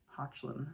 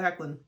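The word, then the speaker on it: Hoechlin: The door said Hecklin in large. Someone told me it was not Hecklin. Someone told me it was like Hochlin or something like that.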